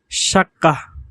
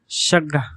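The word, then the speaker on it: شقة: এরপর শাক্কাহ, শাক্কাহ। বিশুদ্ধ আরবি ভাষায় শাক্কাহ মানে ফ্ল্যাট। এর আঞ্চলিক উচ্চারণ হলো শাগ, শাগ। এখানে কফের উচ্চারণ গ এর মতো হয়েছে, শাগ্গা, শাগ্গা। এরপর ইস্তিকবালুন, ইস্তিকবালুন।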